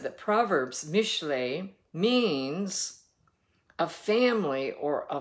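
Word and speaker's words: משלי: has told us uh in Hebrew it is m i s hle e i mishle is how you pronounce it and he said that Proverbs Mishay means a family or a village of Parables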